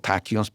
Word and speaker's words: tachyons: There's a whole notion in physics, which is, called tachyons, particles that are faster than the speed of light. How do you say it? Tachyons. Tachyon. It's from the word tachyos, which means fast.